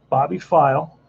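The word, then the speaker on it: Pfeil: bobby's file is next that's actually how you pronounce his name bobby file and that's an 8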